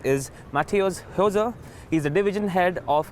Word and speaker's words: Matthäus Hose: today first of all thank you for pronouncing my name correctly it's not easy I'm sorry for my